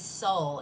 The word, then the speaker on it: Seoul: All right, this is Soul. It's spelled S-E-O-U-L.